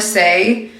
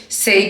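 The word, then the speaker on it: Saie: is from SE Beauty I believe that's how you pronounce it s a i e say beauty I'm using the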